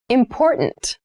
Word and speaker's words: important: The pronunciation of this word that first t is actually reduced. It sounds more like a d in fast speech.